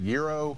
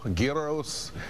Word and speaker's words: gyro: the game and uh you can really pronounce it Euro guo gyro whatever you're comfortable with I'm happy with I